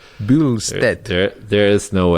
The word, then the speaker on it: Bystedt: How do you say it? Bystedt. There's no L though. Where are you getting the L? Bystedt.